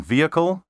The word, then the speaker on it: vehicle: pronounced envoy and envelope don't pronounce the h in vehicle and herb and don't say zoology